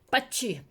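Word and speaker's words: Pazzi: O sea, se les conjuraba gente y bueno, de hecho, a su hermano Lorenzo lo matan los Pacci. Es que se escribe ZZ. Pachi.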